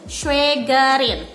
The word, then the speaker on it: Schwägerin: Ingat, di atas A ada tanda baca umlaut atau titik 2 di atas A, berarti dibacanya jadi E ya. Jadi Schwäger und Schwägerin. Frau tidak mau ada yang masih nyebut Schwager ya, nein, tapi Schwäger und Schwägerin, saudara ipar.